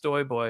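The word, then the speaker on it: stojboj: same it's it's it's s-t-o-j-b-o-j um which is it's actually pronounced stoy boy because my my yeah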